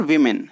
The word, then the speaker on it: women: ये प्रोनाउंसिएशन में भी चेंज आप देखने के लिए मिलेगा आपको, वुमन और वीमेन। जब आप प्लूरल में चेंज करेंगे तो वो क्या पढ़ा जाएगा, वीमेन, WOMEN, वीमेन।